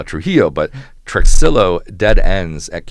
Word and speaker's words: Trujillo: And we have a proof of concept for that at Truxillo, which is how folks in third ward pronounce uh Trujillo, but Trxillo dead ends at homes to the trail.